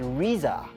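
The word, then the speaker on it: RZA: at her son's Monica assuming they are using the same pronunciation as the famous rap leader their son's name is pronounced Riza the couple also decided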